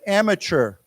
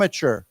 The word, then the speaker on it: amateur: word it's very common we pronounce the T with a CH sound okay so let's say together amateur am amateur so again the opposite